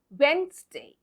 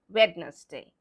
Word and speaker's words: Wednesday: So it's Wednesday and not Wednesday.